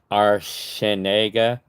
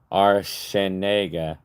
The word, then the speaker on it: Arciniega: Well, how I pronounce it is Arenega. My last name is pronounced Arenega.